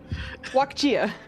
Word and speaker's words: Wakia: I'm trying to Wakia. Walk. Chia. I'm gonna write this phonetically so I know it. Yes. Um, a walk and a chia pet.